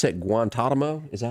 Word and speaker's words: Guantanamo: You pronounce that Guantanamo?